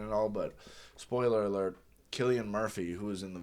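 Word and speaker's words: Cillian: very first one, is it Killian or Silian? I think it's always been an argument. I think it's actually annunciated Killian. Okay. Yeah. um or pronounced Killian.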